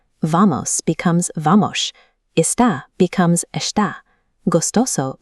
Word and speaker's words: Vamos: Standard Brazilian Portuguese apps teach a neutral S, but in Rio, the letter S at the end of syllables is pronounced like the S H in sheep. "Vamos" becomes "Vamosh".